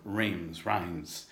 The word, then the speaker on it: Reims: Quentin, and I'm about 4 days away from Reims, as they pronounce it in France.